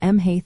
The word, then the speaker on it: Mhaith: Here, ma, which means good, changes to Mhaith after Oíche. This linguistic feature is a fascinating part of learning Irish pronunciation, as it helps create a smoother flow of sounds.